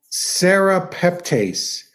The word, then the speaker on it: serrapeptase: the eye oh I see and it's called serrapeptase and I'm going to put it in the chat here um it's spelled s-e-r a p e p t a